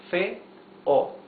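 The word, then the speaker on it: feo: okay L ma f f two syllables Fe o fail the biggest or the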